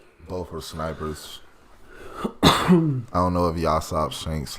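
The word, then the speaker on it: Yasopp: Yasop. Oh, that's how you say it, Yasop.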